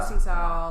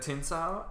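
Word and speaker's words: Tsingtao: the Tin Sao. How do you say it? Tsing Tao.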